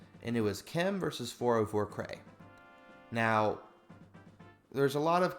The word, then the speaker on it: 404Cray: And aside from his tag being hard to pronounce quickly, 404 Cray is usually how I pronounce it announce it enunciate it.